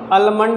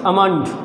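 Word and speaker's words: almond: भी कर सकते हैं तो आलमंड नहीं पढ़ते इट्स अमाउंट क्या है साइलेंट है बम हमेशा उसे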